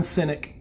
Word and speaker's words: Sinek: Simon Sinek, I believe that's how you say it.